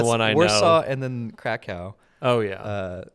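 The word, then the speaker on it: Kraków: I saw and then Krakow oh yeah uh which are pronounced uh varsava and krakov but um uh the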